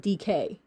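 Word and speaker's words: Deek: And if you say her name fast enough, it sounds like DK. But it's DK, D-E-E-K.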